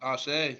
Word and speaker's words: ASÉ: I want to make sure I got the name right. ASÉ? Is it called? ASÉ. You said it ASÉ. right. ASÉ, okay. You said it right.